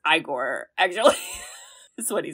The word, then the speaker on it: Igor: It's pronounced Igor, actually.